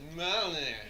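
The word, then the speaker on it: Mjölnir: and I'm like spelling it out so Like, phonetically of yeah. me, yol, near, and he's like Mjolnir.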